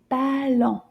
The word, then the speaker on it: ballon: It's called un ballon. Can you repeat that? Ballon. Let's see how many syllables is in ballon. How many times do we clap our hands? Ballon. Deux syllabes.